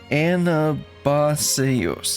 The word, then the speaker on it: Anabaseios: Anabaseios, yes.